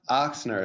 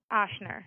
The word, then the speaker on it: Ochsner: And it's pronounced Ochsner, is that right? Ochsner, yeah.